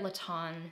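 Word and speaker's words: Lestien: pair of my favorite Laton sweats um it's Laton l-e-s-t-i-e-n Laton is spelled the French way I just thought about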